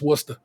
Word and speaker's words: Worcester: c s t e ER but it's just Worcester and it's pronounced Worcester and so it's just weird to me I'm